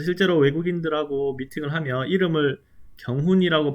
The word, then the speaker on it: 경훈: 그래서 실제로 외국인들하고 미팅을 하면 이름을 경훈이라고 발음하지 않고 그냥 키용이라고 불러줘요.